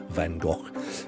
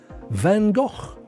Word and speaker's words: Van Gogh: I think that's how they pronounce it in the Netherlands. Van Gogh.